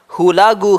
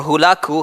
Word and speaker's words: Hulagu: his grandson so the grandson of genis Khan hulagu Khan or hulaku Khan they pronounced ways he continues this tradition of his